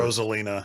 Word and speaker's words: Rosalina: Rosalina.